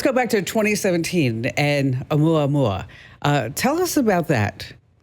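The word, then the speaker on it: ʻOumuamua: Hey, let's go back to 2017 when we had the the Omaha Omaha. Is that how you pronounce it? No, actually it's in Hawaiian.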